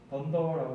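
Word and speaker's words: dunder: 이런 거를 읽을 때 던더라고 읽으면 됩니다. 그리고 던더 이렇게 읽으면 되고요. 그 뭐냐면 더블 언더스코어 줄여서 던더라고 부르다.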